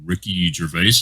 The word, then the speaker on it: Ricky Gervais: club and that was my first exposure to ricky gervais i think is the correct way to pronounce his name yeah we've talked a little